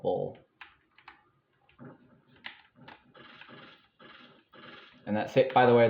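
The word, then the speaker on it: Bowll: And yes, I believe that is how the enemy name is pronounced. B-O-W-L-L, bull.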